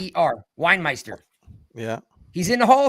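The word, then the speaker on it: Weinmeister: We e i n e i s t er winemeister.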